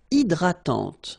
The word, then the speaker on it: hydratante: Une crème hydratante. So remember, H is not existing, and then this Y is pronounced like I. Hydratante. Okay, don't insist on the final E, and this is nasal. Hydratante.